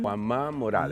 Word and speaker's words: Juan Ma Morales: I'm going to make him pronounce it Juan. Juan Ma Morales.